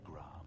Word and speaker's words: Gram: The sword named Gram. The R is silent, clearly.